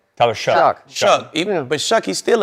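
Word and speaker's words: Shough: Tyler Shuck.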